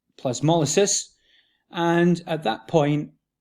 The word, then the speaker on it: plasmolysis: of what is called incipient incipient plasmolysis properly pronounced plasmolysis and and at that point um what will